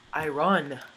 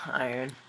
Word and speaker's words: iron: Found the iron. No, iron. I'm not gonna be one of those guys. I try to pronounce everything right.